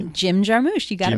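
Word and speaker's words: Jarmusch: Jim Jarmous.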